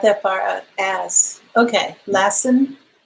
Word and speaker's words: Lassen: far out ass okay lassen okay not lesson always telling to know